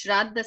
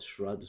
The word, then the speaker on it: Shraddha: You call it Shraddha ceremony because you don't pronounce the A. But any Shraddha, I pronounce it Shraddha because that's the proper pronunciation.